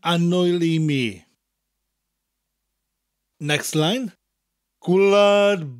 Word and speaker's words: Gwlad: Gwlad bairdda chantorion, enwogion o fri. Gwlad is gw and lad together.